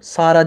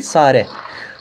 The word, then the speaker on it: Sare: Mesela orada Sara ben okudum. Sara değil, Sare.